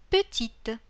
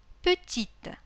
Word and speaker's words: petite: Petit, petite. Câlin, câline. Coquin, coquine. При этом непроизносимый конечный звук «т» становится произносимым. Petit, petite.